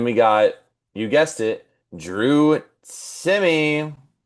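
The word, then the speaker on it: Drew Timme: And then we got, you guessed it, Drew Timmy.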